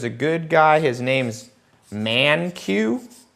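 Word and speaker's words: Mankiw: Buy this guy's textbook, ManQ. That's how you pronounce his name, okay?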